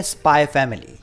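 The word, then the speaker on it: Spy × Family: अगला एनिमे है स्पाई फैमिली। ये एक्स प्रोनाउंस नहीं किया जाता।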